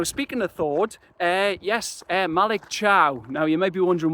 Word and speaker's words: Thiaw: that link is, but that's what I originally thought his name was. I thought it was Thiaw, then I thought it was Thaw with a silent I. But I got both of those wrong.